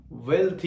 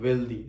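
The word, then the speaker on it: wealthy: वो क्या हुआ, हेल्थी, वेल्थी, इट इज नॉट वेल्दी, सो ये प्रोनाउंसिएशन।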